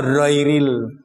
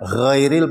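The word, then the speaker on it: غير: Oh, ada kok baca ghairil kayak roiril itu dah. Karena gerakannya di sini. Lah ganti-ganti munine kayak roiril. Ada maksudnya ghairil pakai mamang suara bergetar di tenggorokan ini.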